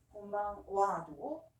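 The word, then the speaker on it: こんばんは: 그래서 곤방 와도 오늘 저녁 은는이기 때문에 와라고 발음합니다.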